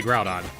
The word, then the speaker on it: Groudon: Groudon is how I say Groudon.